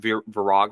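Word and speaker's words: Viragh: verog um it's yeah it's spelled v i r a g h isn't that right yeah so it's spelled like verra but it's called Vera so we always just called it verog to be funny but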